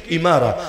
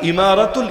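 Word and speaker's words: إمارة: দিয়েছে কি ইমারা, আল ইমারাতুল ইসলামিয়া। একইভাবে ওই যে আরব আমিরাত, নাম শোনেন নাই? কি শোনেন নাই? ইউনাইটেড আরব এমিরাটস, ওই এমিরাত যেটা, আমিরাত যেটা, ওইটারই আরবি উচ্চারণ হলো ইমারা, মূল উচ্চারণ ইমারা।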